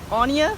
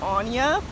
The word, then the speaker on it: Anja: literally just fully syllables my first name Anja two syllables soon one syllable on